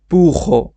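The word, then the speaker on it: burro: বলবো পুহো পুহো পুহো আপনি চাইলে এটাকে পুরো বলতে পারেন যদি আপনি পুখ উচ্চারণ করতে না পারেন তাহলে আপনি বুড়ো বললেও কোন সমস্যা নাই ডাবল আর উচ্চারণ যেভাবে হয় বুড়ো এভাবে বলবেন সমস্যা নাই শেষে জিব্রা জেব্রা কে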